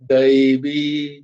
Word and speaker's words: দৈব: তাহলে উচ্চারণটা কিরকম হবে দইবি বয়ে দীর্ঘই তাই উচ্চারণটা একটু টান হবে ওখানে দৈবি নয় দইবি দইবি ঝেসা নয় যেমন ওখানে কি আমরা দেখেছিলাম